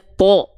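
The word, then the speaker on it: ط: Contohnya misalnya huruf to. Huruf to ketika dia berharokat fathah, dia kan dibacanya to. Ya, terdengar seperti vokal o, tidak ta, ya enggak?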